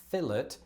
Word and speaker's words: fillet: it from the French, whereas you kept the French and thus pronounced it more the French way.